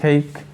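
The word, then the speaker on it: cake: ডু you know how টু মেক কেক, ডু you know how টু মেক কেক। আমরা কিন্তু এটা ক্যাক বলি, ক্যাক, কিন্তু উচ্চারণটা আসলে ক্যাক নয়।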